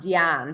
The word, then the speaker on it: Diane: And Diane did it while, and it's pronounced Diane, but she did it while sprawled out on a leopard print like sofa eating grapes.